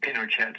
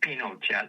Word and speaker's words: Pinochet: And uh they called it um Pinochet's Folly. They pronounce it Pinochet instead of Pinochet like French.